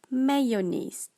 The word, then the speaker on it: mayonnaise: The correct pronunciation is mayonnaise.